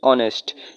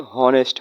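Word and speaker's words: honest: দেখেন এখানে অনেস্ট বানানে এইচ এর উচ্চারণ কিন্তু হচ্ছে না। অনেস্ট। এইচ এর উচ্চারণ হলে কি হলো? হনেস্ট হলো।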